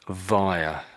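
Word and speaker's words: Vaea: This is my one, and I think that's pronounced via. This Mount Via, I think.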